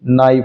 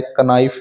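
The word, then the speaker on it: knife: के एन आई एफ ई, नाइफ होता है, कनाइफ नहीं होता।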